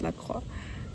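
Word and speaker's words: La Croix: La Crocs. It's definitely pronounced Laqua.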